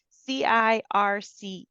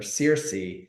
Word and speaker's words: Circe: And I am not going to pronounce this right. Circe. Oh, Circe.